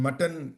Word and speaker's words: Mattan: And Mutton is a town, and Mutton is not is spelled Mattan, just in case if you want to look it up later or something.